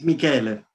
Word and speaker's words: Michele: get started by introducing um dr michelle and am i pronouncing your name correctly it's michael he's italian for michael thank you and i'm